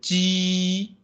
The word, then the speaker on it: 鸡: If we pronounce those independently, for example, 知 your tone, the front side of your tongue, the front of your tongue is a little bit curved to the inside. 知 and when you pronounce the 鸡 the middle part of your tongue touched the top of your, somewhere below your nose. 知 and 鸡.